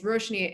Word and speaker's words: Roshani: In my family, I'm the oldest, so Roshani with a silent A, and it's Roshani if you're also a brown immigrant or I'm in trouble. Otherwise, Roshani is fine.